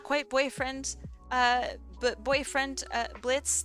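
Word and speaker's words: Blitzø: boyfriend uh boyfriend uh Blitz the O is silent um then we had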